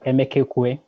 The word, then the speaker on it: Emekekwue: Emekekwue. Please correct me if I didn't pronounce it correctly. Not bad. Emekekwue. Emekekwue. Excellent.